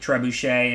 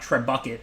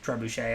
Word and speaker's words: trebuchet: It's not trebucket or whatever. It's trebuchet, I think. I'm assuming it's a French word.